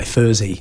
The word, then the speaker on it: Furzey: Although a lot of people kind of think that's how you say my last name anyway, Furzey. Right. I guess because people have thought it's in German. Actually, this is a good one. In German, you would pronounce my name Furzey if you see the name. Right. If you're German and you read it, you would say Furzey, which I believe that sound in German means fart.